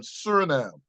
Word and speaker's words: Suriname: The Netherlands, you have a lot of saints that are from Suriname. Suriname. I think I'm pronouncing that. You just Yeah, said it. Suriname, that's it.